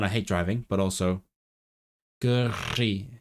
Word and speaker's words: gyrru: And for one, I hate driving, but also gyrru. It's so hard to say, especially when you can't trill your R's. Gyrru.